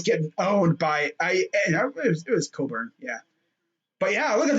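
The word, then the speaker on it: Cockburn: He was getting owned by Coburn. That's how they say his name. It's not how it's spelled, but that's how they say it.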